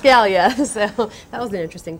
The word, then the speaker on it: Gallia: from Knoxville, Tennessee yesterday asking me how to pronounce our county. And her guess was Galia or Galia. And I corrected her and said, "Well, actually, it's Galia."